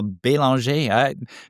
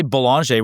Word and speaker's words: Belanger: Hey, you said that super well, Belanger. People say Belanger, which I'm used to, but Belanger is like the right, proper French pronunciation.